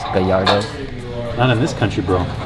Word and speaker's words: Gallardo: fun fact number 338 it's not pronounced Gallardo it's that yard none of this country